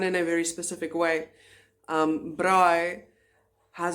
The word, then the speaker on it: braai: Alright, so let's move on to the individual pronunciation of these sounds as well as some vocabulary to accompany them. I, braai, braai.